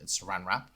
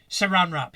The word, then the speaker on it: Saran: very quickly there and and just correct your pronunciation Saran rrap Saran rrap yes that is correct I do apologize thank